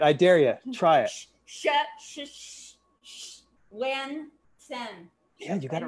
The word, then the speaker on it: Schwensen: He even taught us how to phonetically say his name. Yeah, go ahead. Try it. I dare you. Try it. Schwensen.